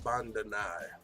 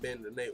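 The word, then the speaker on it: Bandenay: Humberto Bandenet. Okay, that's how you say it. Not Bandenet. Humberto Bandenet. I can't pronounce half of his shit right, and not the other half.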